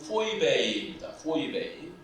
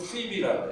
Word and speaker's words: Phoebe: 그 신약 성경의 원어인 헬라어 발음으로는 포이베이입니다. 포이베이라고 발음하고 그리고 영어로는 피비라고 해요.